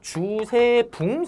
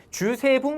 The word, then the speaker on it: 주세붕: 자, 그러면 이제 넘어갈 건데, 넘어가기 전에 제가 혹시나 발음을 똑바로 했나 싶어서, 백운동 서원이 우리나라 최초의 서원이잖아요. 이거를 만드신 분은 주세붕 선생님입니다. 제가 봉이라고 한 것 같아서 느낌이, 주세붕 선생님께서 백운동 서원을 건립했다라는 거.